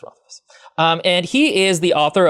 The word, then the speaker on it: Rothfuss: It's pronounced Rothfuss.